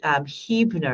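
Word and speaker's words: Huebner: this is dawn da WN last name is Hebrew nur is actually how she pronounces it but it's spelled H u.e.b and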